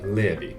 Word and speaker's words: Levi: Is the Levi in your name pronounced like levitation or Levi like the pants? I think that answers your question. It's actually Levi. Levi.